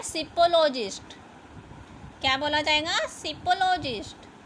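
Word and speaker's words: psephologist: अब स्टडी की जाती है ना इलेक्शन के टाइम पे कि कौन जीतेगा कौन नहीं, तो उसे क्या बोला जाएगा, यहाँ पर पी साइलेंट है, सिपोलॉजिस्ट।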